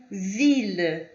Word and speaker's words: ville: Ville, ville. Pronunciei com som de L normal, assim como nós pronunciaríamos em português.